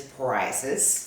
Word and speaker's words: psoriasis: One is psoriasis. Psoriasis. Yeah, I know you want to say psoriasis Because it's got that P right there. The P is silent.